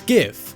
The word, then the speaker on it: GIF: think the image format spelt gif is pronounced jiff while others think it's gif personally thinks it's gif